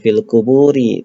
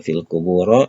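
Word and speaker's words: القبورِ: Jadi kita membacanya "fil quburi", bukan "fil kuburo" atau "fil kuburu". Seharusnya " fil kuburi" karena itu adalah isim majrurun.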